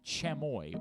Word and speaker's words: chamoy: The flavor is called chamoy or chamoy. I'm not sure how to pronounce it. It's CHAMOY. It's a Mexican flavor. Yeah, it sounds like chamoy.